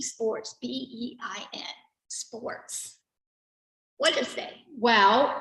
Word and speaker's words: beIN: B-E-I-N Sports. What is that? Well, Bein Sports. I can't say it right. It's called B. You could say Be in or Bein Sport. I think that's how I say it.